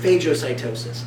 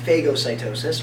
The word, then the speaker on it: phagocytosis: Now, I pronounce it phagocytosis. I have heard it pronounced phagocytosis or phagocytosis. I am not picky. I am accepting of all pronunciations, as long as you spell it correctly. It's not spelled with an F.